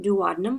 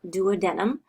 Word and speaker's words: duodenum: The word duodenum can be pronounced two different ways. The way that I've been doing it, duodenum or duodenum, and both are considered correct.